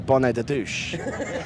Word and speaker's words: bonnet de douche: But every French person I've tried it with, I must be pronouncing it wrong. No, it's that's good.